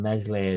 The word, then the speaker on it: Meslier: I thought we could get Perry in and just forget this fucking Meslier silent S bullshit, man.